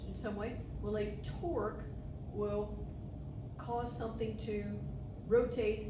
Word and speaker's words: torque: So this important concept to us is called torque. Starts with a T and rhymes with the person that you're sitting next to.